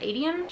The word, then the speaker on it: Aedion: Aedion, I think it's actually, Aedion is how you pronounce it, Aedion.